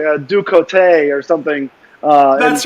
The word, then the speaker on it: Ducote: We here in Cajun French Louisiana kind of changed the pronunciation of the name. It's a hard E on the end, Ducote.